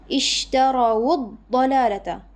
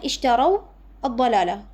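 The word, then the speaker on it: اشتروا الضلالة: Sama juga di sini ishtarawud dalalata. Ini sebenarnya ishtaraw ad-dalalah. Wawnya sukun. Tapi kita rubah harakatnya menjadi dhammah agar mudah bacanya.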